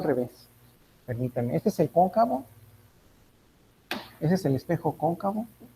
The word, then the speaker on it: cóncavo: Continuando entonces ahora con el espejo cóncavo, vamos a hacer prácticamente lo mismo. Entonces voy a incidir sobre ese espejo cóncavo, lleva acento en la O, ¿verdad? Cóncavo. ¿Dónde lleva en este caso cóncavo acento, ingenieros?